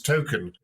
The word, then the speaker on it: Tolkien: Tolkien's surname, but actually the way it's pronounced is Token.